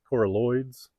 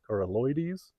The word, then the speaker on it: coralloides: harvested coralloides now and I think I pronounced it coralloids last year but I heard Adam Harington from learn your land call it coralloides so I think I'll